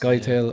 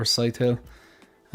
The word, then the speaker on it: Thufir Hawat: pick a Uh but I've heard it pronounced Thufir Hawat or Thufir Hawat.